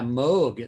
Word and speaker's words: Moog: ring true right boy speaking of uh the pronunciation thing i've always said moog so that's completely changed yeah moog that's the right way to say it that's